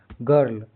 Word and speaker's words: girl: यहाँ क्या GIRL, यहाँ भी क्या है, G के बाद क्या है, I आ रहा है, इस RL R आ रहा है। इसके बाद फर्स्ट में I स्वर, इसके बाद व्यंजन आ रहा है तो इसका उच्चारण क्या होगा, व्यंजन से R जुड़ा है, यानी I के बाद R कोई व्यंजन कॉन्सोनेंट से जुड़ा हो तो उच्चारण अ आधा होता है। जैसे गर्ल।